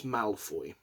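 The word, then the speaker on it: Maelfoy: So I think it's Malfoy.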